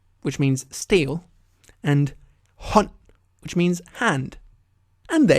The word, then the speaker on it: hånd: Stål, which means steel, and hånd, which means hand.